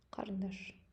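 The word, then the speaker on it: қарындаш: Кариндаш. Кариндаш. Я специально написал здесь «кариндаш». Это переводится как карандаш. Мы говорим «кариндаш», если вы говорите быстро, то «кариндаш». Кариндаш.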